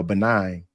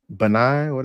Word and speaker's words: Benin: And then I was talking to this one chick that's what's that country uh next to Nigeria, yeah, Benin.